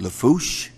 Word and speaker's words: Lafourche: parish president and of course uh for uh pronounced lafourche thank you very much worked on that all